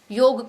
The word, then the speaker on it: योग: तो जब आप योग को योगा कहेंगे, इसलिए आज योगा बिजनेस ही बन गया है। और जब हम योग सही उच्चारण करेंगे, इसका सही अर्थ समझेंगे,